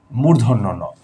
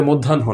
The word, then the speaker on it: মূর্ধন্য ন: এর পরে আসছে ত মূর্ধন্য নটাকে আমরা অনেক নামে ডাকি মদিনা মধ্যান্য এবং কেউ এটাকে অনেক শুদ্ধ করে মধ্যানহ বলে ফেলে মানে দুপুরবেলা মধ্যানহ এটা মধ্যানহ না মূর্ধন্য ন মূর্ধন্য ন এর পরে